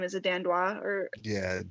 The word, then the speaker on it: Dandois: Is it Dandois or Yeah, Dandois, yeah, she's she's been in like the different top promotions.